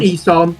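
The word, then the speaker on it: Ihsahn: Ilsan, is that how you call it? Is that how you pronounce his name? Isan, yeah. Isan, yeah.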